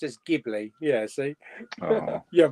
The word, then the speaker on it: Ghibli: Here, see, Jamie, I've always said Ghibli pronounced as Ghibli.